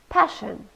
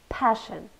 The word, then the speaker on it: passion: by lots of people passion two syllables and we stressed the first one passion it's a known and